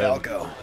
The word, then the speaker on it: Falco: Oh, see, that's how you say Falco, by the way. Not just say his name like you did in last episode. Falco.